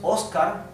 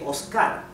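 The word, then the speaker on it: Óscar: So in some Latin American countries you would pronounce Oscar, therefore it has a tilde, an accent. And some other countries like Argentina, you say Oscar, therefore without a tilde.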